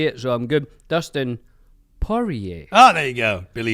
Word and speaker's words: Poirier: Dustin Poirier. Oh, there you go. Billy used to say Dustin. Oh, wow, Poirier.